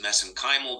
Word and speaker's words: mesenchymal: And of course, you study MSC stem cells, which I pronounce as mesenchymal because that's how they pronounce it in Ireland. I know there's other pronunciations for that.